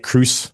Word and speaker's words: Kroos: just like Tom Cruise. Kroos.